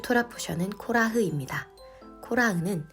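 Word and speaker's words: קֹרַח: 코라흐는 고라의 히브리식 발음입니다. 코라흐의 어근은 카라흐로 카라흐는 자신을 대머리로 만들다라는 뜻을 가지고 있으며 코라흐는 대머리라는 뜻을 가지고 있습니다.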